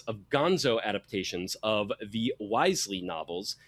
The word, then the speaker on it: Wisely: The Seventh Curse, in particular, was the first in a series of gonzo adaptations of the Wisely novels, sometimes pronounced Wesley, but they always spelled it Wisely, a w i s e l y.